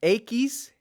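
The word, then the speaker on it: equis: so X we have a keys a Keith a keys alright so that's a pretty that's a little interesting one but just remember the commercial DOS a keys if you want to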